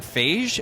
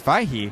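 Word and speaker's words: Feige: over to Kevin um I have always said Kevin phage and I learned today that it's fahi yeah um so I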